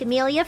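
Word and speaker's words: Emilia: Yeah, it's spelled E-M-I-L-I-A, like Amelia from ReZero.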